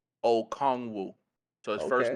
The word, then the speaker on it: Okongwu: The pronunciation is Onyiku Okongwu.